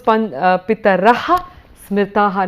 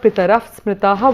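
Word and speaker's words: पितरः स्मृताः: So this was Pitaraha Smritaha, not Pitarah Smritaha, which was not the identical pronunciation there.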